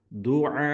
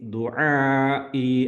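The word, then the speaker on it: دعاء: ഒന്ന് സ്ട്രെസ്സ് ചെയ്തു പറയുക ദുആ ദുആ ആദ്യത്തെ ഐനാണ് രണ്ടാമത്തെ ഹംസയാണ് അലിഫിന്റെ ഉച്ചാരണമാണ് രണ്ടാമത്തേത് ദുആ മദ് ലോങ്ങ് മദ്ദാണ് അങ്ങനെ ഒന്നുകൂടി നോക്കാം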